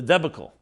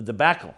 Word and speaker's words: debacle: believe we all remember the debical the debacle I think is pronounced of I will not